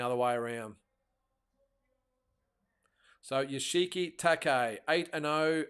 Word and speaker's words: Takei: I think I pronounced it Takei, but it's Takei.